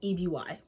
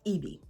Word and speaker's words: EBY: Let's talk about a brand called EBY, but it's actually pronounced EB. EBY stands for Empowered by You, but is pronounced EB.